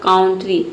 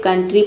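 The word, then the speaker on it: country: इसका प्रोनाउंसिएशन हो जाएगा काउंट्री, लेकिन काउंट्री नहीं पढ़ते हैं, यहाँ पे कंट्री पढ़ते हैं, यानी कि ओ यू का जो साउंड है ये अ का साउंड आता है।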